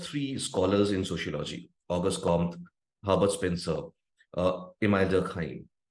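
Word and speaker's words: Comte: Harbert Spence IM right my pronunciation may vary because I have heard people trying to use the exact French pronunciation Calling August K instead of K uh some call him em dkim uh I'm using the general English pronunciation so to me he is August com that's what I'm pronouncing and uh emim that's how I'm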